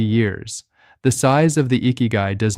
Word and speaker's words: ikigai: The word is ikigai. Pronounced ee-key-guy, and it means roughly the reason you get out of bed in the morning.